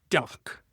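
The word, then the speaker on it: DACH: Duck pronounced D or Da for Germany, Austria, and Switzerland.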